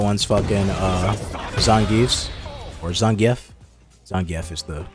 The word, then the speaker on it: Zangief: Zangief is the correct way to pronounce his name.